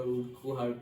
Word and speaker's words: Urquhart: तो वैसी activity Frederick ए उर्कुहार्ट ने दी थी। Ebright's mother road to doctor उर्कुहार्ट and soon, वैसे जनरली उर्कहार्ट भी प्रोनाउंस करते हैं, बट उर्कुहार्ट भी बोल सकते हैं क्योंकि यू है बीच में।